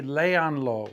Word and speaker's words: léanlo: If you want to say to a group of students, read it, it would be léanlo, one word, count back 3 vowels, and the accent mark again would end up